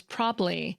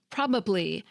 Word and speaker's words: probably: weak or reduced vowels, like in the pronunciations prob'ly, chocolate, and veteran. Each of these words technically has three syllables, probably, chocolate, and veteran, but we often shorten them to two in everyday speech.